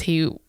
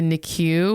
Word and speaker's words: NICU: being able to pronounce NICU? Yeah, he was like the NICU or what. I was like, it's the NICU, the NIC unit.